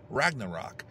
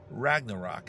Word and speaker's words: Ragnarok: new solo song called after the glow of Ragnarok this is the rock and roll weather man